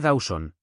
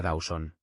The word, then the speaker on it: Dowson: Señora Dowson, corrigió Aarón con suavidad tras haber empezado a pronunciarlo como seora Dauson.